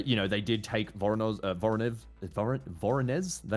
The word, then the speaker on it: Voronezh: Yeah, even if, you know, they did take Voronezh, is that how you say it? Voronezh.